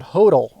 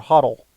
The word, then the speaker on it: HODL: spell it right buy and Hodel or huddle I've heard it pronounced both ways h o dl and that stands for